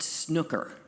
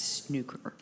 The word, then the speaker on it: snooker: It's not snooker, it's snooker.